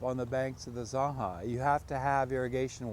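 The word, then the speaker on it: Zanja: The significance of the Zaha, if you're a highfalutin college and you're pronouncing it in the Spanish versus the Sankey, is that it's an irrigation ditch, and it's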